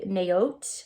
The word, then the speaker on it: Naot: a really good brand in a OT naot I think is how you pronounce it but these look these